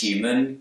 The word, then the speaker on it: human: American accents in general for me the words human huge at humor begin with a Hugh's out but in New York accent eh is dropped and we're left with you listen to Teresa may